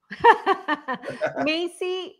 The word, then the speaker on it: Maisie: Maisie, like the store.